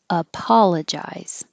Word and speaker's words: apologize: theory cerebral cerebral apologize this o is stressed and it sounds like ah apologize publisher publisher and promote